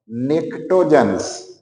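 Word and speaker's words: pnictogens: निक्टोजन्स। निक्टोजन्स, देखो निक्टोजन्स, T silent है।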